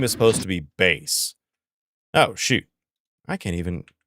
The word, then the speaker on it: Bass: Well, it's spelled B-A-S-S, and the old voice actress, because it was a girl, for Mega Man, pronounced it as Bass. So we called him Bass for years.